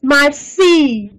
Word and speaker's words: Marseille: In French, I double L is silent. So it's Marseille.